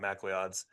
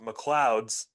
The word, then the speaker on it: McLeod's: Shout out to not Macleod's. It's an Irish pub, so it's pronounced McLeod's. Super accommodating, super friendly.